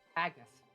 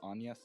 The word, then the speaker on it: Agnes: Look, my brain always wants to say Anya just because of another game where Right. where that character is spelled the same way but it's pronounced Anya. So That Agnes. name is typically pronounced Agnes.